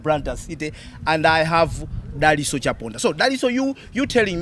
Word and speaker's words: Daliso: interesting thing is yes, I actually take all pronunciations because yes, a lot of people get confused because the thing is I was born in Zambia, but I am Malawian. In Malawi, it's spelled TSO. Daliso. In Zambia, it's spelled ISO. Okay. And because I was in Zambia when I was born, my parents chose to use the local Zambian pronunciation.